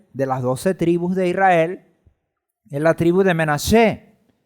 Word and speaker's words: Menashe: La tribu del pueblo de Israel, de las 12 tribus de Israel, es la tribu de Menashe, que en castellano se pronuncia o se le llama Manasés, en hebreo Menashe.